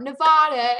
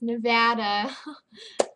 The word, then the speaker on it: Nevada: from Las Vegas Nevada it's not Nevada it's Nevada and uh so yeah